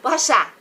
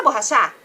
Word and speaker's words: borracha: Borrachar. A P me empresta borrachar? Ninguém fala borrachar. A gente fala o quê? Me empresta borracha.